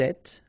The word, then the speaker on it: êtes: Vous êtes, little liaison to between the two, and then final S not pronounced.